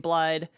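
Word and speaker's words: Blaidd: wolf it's a cool big wolf guy named blide it looks like it's spelled blade but it's pronounced blind oh but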